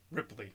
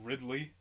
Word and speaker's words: Ripley: but ah man like i always say her name wrong ripley right ripley yeah because for some reason for some reason i want to say ridley and i'm like no